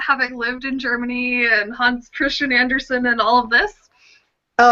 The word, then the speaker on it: Hans Christian Andersen: is a good set Hans Christian Andersen is how you say I'm properly Hosty Anderson and I've got I